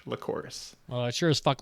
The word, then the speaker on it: Lycoris: All I will say at this point is just to correct you that it's pronounced Lycoris, and it's most often referred to as red spider lilies.